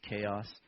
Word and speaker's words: Ceos: So Simonides of Ceos, or some people pronounce it Chaos, was a guy in 546 to 468 he lived, and he was an orator and did different things.